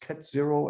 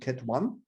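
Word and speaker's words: ket: the dirac notation and these symbols are pronounced cat 0 and cat 1 these are the vectors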